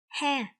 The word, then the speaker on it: ha: It is ha. Ha. It's like when you smile, you say ha ha ha ha ha.